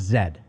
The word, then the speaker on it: Z: i thinking about this the letter z over in england is pronounced zed that makes me angry